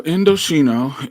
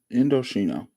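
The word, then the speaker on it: Indochino: So, Indoshino it is spelled I N D O C H I N O Indoshino.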